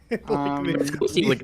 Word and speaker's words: 6OST: Ghosty, thanks for being here. How are you? I'm good. Thanks for having me again. And yeah, it's Ghosty. It's spelled with a on YouTube.